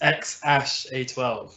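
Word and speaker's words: X Æ: grimes baby is called i actually know the pronunciation of this it's x ash yeah so yeah um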